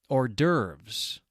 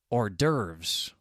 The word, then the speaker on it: hors d'oeuvres: another word with a silent H beginning that comes right from a French term. Hors d'oeuvres.